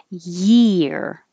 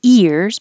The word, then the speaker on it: year: going down a little bit and back up year year Year Happy New Year um I wouldn't say happy ears but Happy New Years happy New Year year